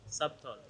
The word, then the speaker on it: subtle: Subtle. Oh, on y est presque. Alors ici, le piège avec ce mot-là, c'est que le B est muet.